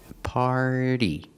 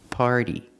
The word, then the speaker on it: party: they're very similar but with party we have the r we pronounce it like car and far par now we connect that to the fast d party party not party is a